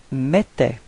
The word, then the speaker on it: mettait: Okay, for the pronunciation, remember that then when you've got this two T right after the E, it does give you the pronunciation for the E, it's open, it's E, okay?